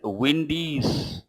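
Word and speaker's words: Bwindi: Let us say B is silent, windy's, apostrophe S.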